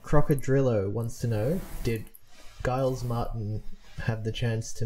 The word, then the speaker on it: Giles: react and interact with Guiles uh for anyone listening I think Guile's is remastering the Beatles albums now um yeah so he's uh pronounced Giles Giles so it's uh Jazz